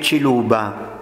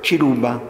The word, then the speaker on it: Ciluba: Così, per far pronunciare la C di Ciluba, inventarono di scriverla con TSH, cioè Ciluba, perché la C dolce in Francia non esiste.